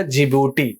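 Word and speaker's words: Djibouti: Eritrea और last में आपका जीभूति इसमें दी साइलेंट है तो कितना कंट्री हो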